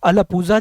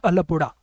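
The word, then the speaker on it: Alappuzha: ठीक है, ये लिखा अलपूजा जाता है लेकिन इसको प्रोनाउंस करते हैं अलपुड़ा।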